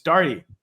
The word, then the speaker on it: Daugherty: It's Daugherty, folks. How hard could it really be?